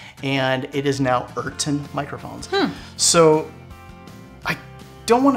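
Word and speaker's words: Urton: out it's a microphone company called eron microphones eron yeah now you may have can you spell it u r t o n eron okay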